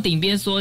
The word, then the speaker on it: 鼎邊趖: 事实上顶边嗦这个读音不止长辈